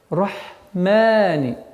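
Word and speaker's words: الرحمن: Ударение два счета. Рахмани.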